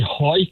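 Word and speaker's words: Hawick: It's actually Ho. It's not Hwick, it's Ho in the Scottish borders.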